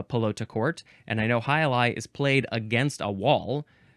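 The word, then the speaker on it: jai alai: It's spelled Fronton, noun from 1896. It is a Highlight arena.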